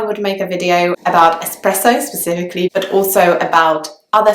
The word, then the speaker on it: espresso: ordering an espresso so a lot of people in London actually seem to think that it's pronounced expresso as if there was an X in the word but in fact there isn't an X in the words there is just an S so the word should